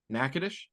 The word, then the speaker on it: Nacogdoches: so mind blown right now how is that pronounced nakadish there is a city in Texas just across